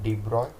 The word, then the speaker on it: de Broglie: सो इन 1924 this Prince Louis डी ब्रूगली that is pronounced as अ डी ब्रॉय proposed on the basis